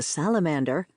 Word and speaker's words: Salamander: Thanks to salamander, pronounced at the time with the accent on the last syllable pronounced de, I would be as French as I could possibly be.